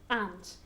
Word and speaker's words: aunt: and have very good be careful with the pronunciation of aunt okay because if you say and at Omega okay and they sound very similar or Mena and is it is a shorter a and and then aunt dear is a longer